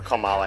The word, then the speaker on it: Kamala: Well, it's like the Kamala rhetoric. Her name is Kamala, actually. Kamala, right? No, it's Kamala, right. Like my sign. Kamala. La. Oh, I didn't know it was spelled with a comma in it.